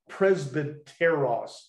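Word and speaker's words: πρεσβύτερος: The word he uses, presbyteros, is actually, it's spelled with a Y. We call it presbyteros. It's like Presbyterian, okay?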